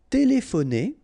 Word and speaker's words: téléphoner: Téléphoner. Téléphoner. Remember, P and H together will give you this F sound. Téléphoner. Téléphoner.